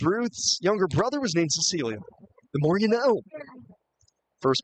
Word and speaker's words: Cecilia: at least illuminated me the uh soft C first name of Cecilia, which he also astutely points out not many ball players with that name.